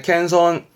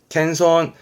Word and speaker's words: 謙遜: 손자처럼 잘 따르는 겸손함의 손자 겸손 각요 겸손의 캔손 캔손 음독은이 정도면 될 거 같고요 동사로서 자신을 낮추고